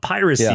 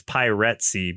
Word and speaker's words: Piratsy: It's not piracy, it's piratesy because they're pirate rats.